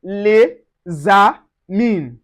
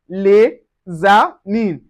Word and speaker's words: les amis: We say les amis. Separately, the S in les is silent, but together, it is pronounced les amis. The S sound like a Z, which is Z. Les amis.